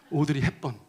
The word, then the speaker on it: 오드리 헵번: 예를 들어서 오드리 헵번, 이거 발음 잘못하면 오드리 헵반이라고 하는 사람도 있는데 오드리 헵번, 알랑들롱.